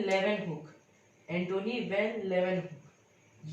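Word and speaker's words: Leeuwenhoek: थे एंटोनी वैन लेवेनहुक या आपको ल्यूवेन ह्यूक ऐसे कुछ लग रहा होगा, लेकिन इसका प्रोनाउंसिएशन है लेवेनहुक।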